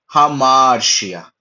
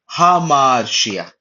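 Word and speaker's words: ἁμαρτία: तो यह rough breathing mark बैठने की वजह से इसका उच्चारण होता है हा ठीक है जैसे कि मैं हिंदी में अगर मैं लिखता हूं हा ठीक है वैसे टाइप का हा उच्चारण हो रहा है तो फिर ये टोटल क्या बन गया हमाशिया हमाशिया ठीक है ये पूरा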